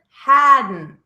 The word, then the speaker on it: hadn't: Noticing that ending T is never pronounced. Haven't, hasn't, hadn't.